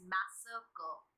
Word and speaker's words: massacre: Pronunciation पे focus करिएगा. The pronunciation is मैसेकर. Right?